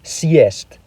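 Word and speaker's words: съесть: However, when the hard sign comes before these vowels, they're forced to respect its hardness and use the pronunciation beginning with y. For example, let's look at the word siest meaning to eat up. If the hard sign is removed, it becomes cyst which means to sit.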